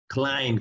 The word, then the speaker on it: climb: otra que es klayman climb que sería escalar cuando estoy por ejemplo escalando el everest la montaña decimos claim klayman pero no pronunciamos la b para peinarse obviamente yo